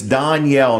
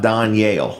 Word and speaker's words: Donyale: delaware that's right it's danielle not don yale that's right okay it's like danielle with an o okay yes it is